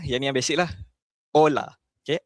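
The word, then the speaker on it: hola: Ola. Okey, ola. Macam tadi saya cakap, H ni silent.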